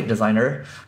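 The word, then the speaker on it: Designrr: so designer U or designer well we'll just pronounce it that way designer and then you can take the blog post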